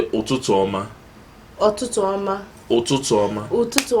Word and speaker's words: ụtụtụ ọma: You say ụtụtụ ọma.